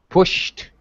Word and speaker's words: pushed: familiar kingdom and unthinkingly pushed Pushed. Pushed. open the bedroom door. Yes. No extra syllable.